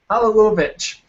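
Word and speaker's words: Halilović: Halilovic. Is it? Absolutely. I had to write it down in syllables.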